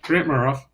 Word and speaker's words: Grant Murhoff: But we've seen GT Taylor, we've seen the Grant Murhoff, and or is that the way it's pronounced, Murhoff or Merhoff or? Yeah, Grant Murhoff.